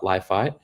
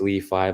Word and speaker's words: LI.FI: I'm the head of developer experience and developer relations at Li.FI. Well, technically it's pronounced Li.FI, but everyone knows us as Li.FI.